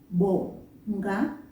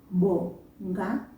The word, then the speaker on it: Bonga: It's a very soft sound that you achieve by just bringing your lips together and then let go. But as you let go, sound out a vowel sound.